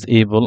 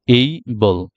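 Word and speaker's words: able: এবল বলি হি ইজ এবল আই ওয়াজ এবল আসলে এটা এবল না এটা হচ্ছে এই বলল এই এ ওয়াই এইবল এইবল তাহলে এবল থেকে হয়ে গেল এইবল এরপরে আমরা দেখি এখানে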